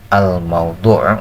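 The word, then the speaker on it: الموضوع: video yang keduanya itu almaudu mauduu ya bacanya almaudu yaitu pokok pembahasan jadi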